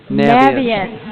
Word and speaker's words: Naviance: Naviance, is that the correct pronunciation? Yes. Naviance. I like Naviance. Like Sounds better. ambiance.